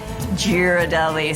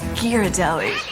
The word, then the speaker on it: Ghirardelli: He came up with this illustrated parrot that explained to people how it's pronounced. It had the phonetic spelling of Ghirardelli. And if you said Ghirardelli, somebody would, reprimand you and say, no, it's Ghirardelli.